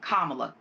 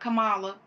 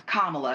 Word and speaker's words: Kamala: more about pronouncing properly her name is Kamala not Kamala it's Kamala and I think that